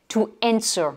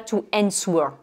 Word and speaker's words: answer: To answer. Surtout, ne dites pas to answer. Même si le W il est là, on ne le prononce pas.